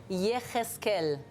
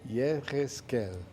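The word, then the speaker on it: Yechezkel: Comment ça se prononce ? Yeskel. Yeskel.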